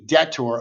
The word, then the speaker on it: debtor: first uh vocab term detour silent b debtor a debtor is a